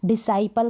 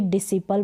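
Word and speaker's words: disciple: और मोस्टली आपको ये ध्यान रखना है डिसाइपल का उच्चारण, न कि डिसिपल बोलेंगे इसको, डिसाइपल।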